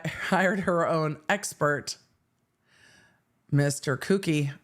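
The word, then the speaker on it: Kucky: her own expert Mr cookie I think is how we have to pronounce that k u c KY cookie cookie kie okay Frank the nice man who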